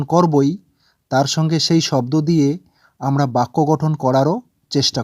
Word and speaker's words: দৃ: লিখে নিই যেকোনো যেমন আমি লিখছি ক ম দ প গ ত ব ন এবং দন্তস বা